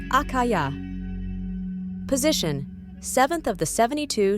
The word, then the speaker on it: Achaiah: Name: Achaiah, pronounced Achaiah.